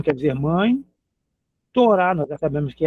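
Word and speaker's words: תורה: Torá nós já sabemos que é a lei de Moisés, é o Pentateuco. Torá, t o R A. E o H no final sem som.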